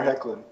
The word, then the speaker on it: Hoechlin: And I just felt that her chemistry with Tyler Hoechlin, and I used to say his name wrong, so I finally got it right.